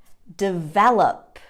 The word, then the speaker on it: develop: this word develop develop often students make the mistake of putting the syllable stress on the final syllable something like develop develop no it's not that it's develop the syllable stress is on the second syllable practice that with me